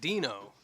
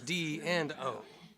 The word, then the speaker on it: D&O: They said it's pronounced kind of like Dino, but it's D and O.